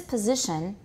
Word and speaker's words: position: This position, z is the tonic stress. This position. Good, and everybody also note, the s is pronounced as z, pz, and also the I is not e, it's I.